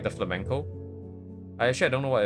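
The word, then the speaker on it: flamenco: But it's flamco guitar. Oh, no. It's just a type of guitar. Oh, it's flamco music, right? Okay. No, not flamingo. Like flamco. Like uh it's like this, like spelled like this.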